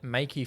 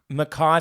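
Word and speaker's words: Mekhi: Prince Jr Brandy and Makey Pfeiffer Makai Pfeiffer Makai Pfeiffer that's it oh well there you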